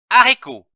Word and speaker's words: haricot: Attention, lorsqu'un mot commence par la lettre H, le H ne se prononce pas. Exemple, haricot. Un haricot.